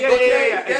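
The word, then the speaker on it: Gotye: Oh, Gautier. Yeah, Is Gautier. that how Yeah. I don't know if that's how you say it, but that's what it looks like on paper. G-O-T-Y-E. Yeah, something like that.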